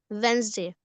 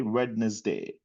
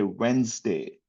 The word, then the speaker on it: Wednesday: So the right pronunciation is Wednesday. Yeah sir. Okay. Yeah. So the right pronunciation you never say witness day. You never say that. You say Wednesday.